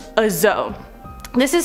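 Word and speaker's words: dzo: On to number 4, a zoe. This is spelled D-Z-O or D-Z-O.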